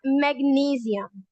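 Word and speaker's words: magnesium: Everyone, the correct pronunciation of मैग्नीशियम इज मैग्नीशियम।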